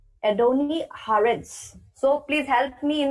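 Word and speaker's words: הארץ: Name of God, Adoni Haaretz. Adoni Haaretz. So please help me in the pronunciations.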